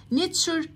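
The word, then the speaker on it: nature: نيتشر طبيعة، نيتشر طبيعة برضو اخر حروف فيها اهي.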